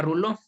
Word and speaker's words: rouleaux: Esta lo conocemos, lo hemos visto en el tejido sanguíneo y se le llama rouleau, que se escribe rouleaux.